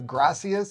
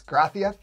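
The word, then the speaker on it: gracias: we're used to like the S sounds like a th so instead of graus it's grath and instead of saying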